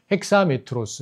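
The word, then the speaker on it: ἑξάμετρος: 그니까 고대 그리스 발음으로는 핵사가 맞는 거고 요즘 그리스인들한테 가서 이걸 발음해라 그러면 액사라고 발음을 하는 거 이렇게 되는 거죠. 그래서 메트론이 되는 거니까 핵사메트로스 핵사메트론이 되는 거고 그죠?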